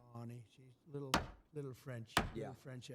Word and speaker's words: Fani: You know Fannie Willis. Right, Fannie Willis. She treated you very unfairly. She goes by the name of Fani, even though it's F-A-N-I. She wants it pronounced Fani.